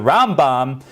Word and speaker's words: Rambam: we're discussing until now the round bomb we put the accent on the front of the word uh the front of the name and when we are